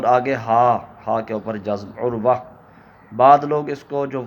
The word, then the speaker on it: عروہ: یہ نام رکھنا درست ہے کہ نہیں۔ تو عروہ، پہلے تو اس کا صحیح تلفظ میں آپ کو بتا دیتا ہوں کہ